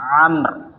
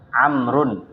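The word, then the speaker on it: عمرو: Kalau belakangnya tidak menggunakan wau, maka ya bacanya Umaru. Kalau enggak pakai wau bacanya apa? Umar. Kalau pakai wau belakangnya, maka bacanya Amr. Amrun ya.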